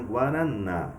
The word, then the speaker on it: guaraná: Então, no caso da palavrinha Guaraná, qual que é a minha sílaba tônica? O na. Então, é a minha última sílaba.